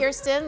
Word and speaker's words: Kirsten: So it's Kirsten. Kirsten. Kirsten, like Kir Royale, Kir.